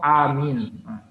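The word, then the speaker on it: آمين: itu bisa merubah arti contoh Amin ketika kita habis berdoa bacanya amin dua-duanya Panjang jangan Amin kalau amin saja saya atau hamil itu aman jadi harus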